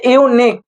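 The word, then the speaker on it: unique: article থেকে এসেছে যে ইউনিক দেখ আমি কি বললাম ইউনিক ইউনিক ইউনিক দেখ spelling ইউনিক ইউনিক ইউ এন আই কিউ ইউ তাহলে ইউর উচ্চারণ কিসের মত হচ্ছে ইউর মত তাহলে ইউর উচ্চারণ ইউর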